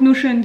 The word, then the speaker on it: Notion: attendue sur nos chaînes donc ça s'écrit notion mais ceux des notions d'anglais donc nos chaînes qu'est ce que c'est c'est un outil sur internet c'est un site en fait c'est nos chaînes point s o c'est